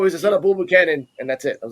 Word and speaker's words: Buchanan: I'm gonna pronounce his last name. I'm gonna butcher his last name. Buchanan.